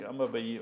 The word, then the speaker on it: Aubameyang: He's 17 goals with Mohamed Salah and Pierre-Emerick Aubameyang.